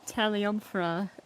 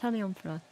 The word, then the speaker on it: Taliumphra: Taliumphra is how it's pronounced. Taliumphra.